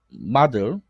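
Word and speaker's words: model: 물질과 모형 세력이 모형 모델 미국식 발음하면 마들 그러니까 완전히 상세하게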